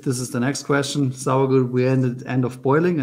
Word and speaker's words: Sauergut: Am I pronouncing right? S-A-U-E-R-G-U-T? For me, it's correct, yeah. And I think I can speak German sometimes. Not really. How close did I come? We speak Bavarian. Sauergut, yeah, of course.